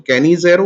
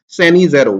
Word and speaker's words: Cannizzaro: Cannizzaro reaction, or you many books say it as geographically different pronunciations are available: Cannizzaro or Cannizzaro, whichever way you would want to speak it.